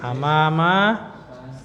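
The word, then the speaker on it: أمام: Kemudian Faransa, Prancis, amama, di depan. Itu perhatikan hamzahnya ya, penulisan hamzahnya di atas, maka itu amama. Kalau hamzahnya di bawah, imamun. Nah, kalau imamun domah tanwin. Tapi kalau amama fathah tanpa tanwin.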